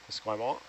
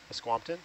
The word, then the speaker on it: Esquimalt: Do you know how to pronounce the part of Victoria that starts with ESQ? Esquimalt? Esquimalt? Esquimpton?